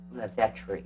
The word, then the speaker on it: Lavettre: And Lavettre. Lavettre. Yes. So I pronounced that right.